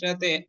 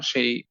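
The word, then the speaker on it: ث: আগে একটু জেনে নেই সাধারণভাবে ছা অক্ষরের উচ্চারণ হবে নরম প্রকৃতির গরম না নরম প্রকৃতির এবং এবং খুব স্নেহের সাথে খুব আদরের সাথে ঠান্ডা বাতাস দিয়ে সাক্ষরটি উচ্চারণ করতে হবে আমি ঠিক আপনাদেরকে যেটা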